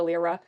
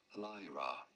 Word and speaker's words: Lyra: like super mean to lra is that lra am I saying it wrong again no it is not L but rather Lyra lie Lyra Lyra she lies she's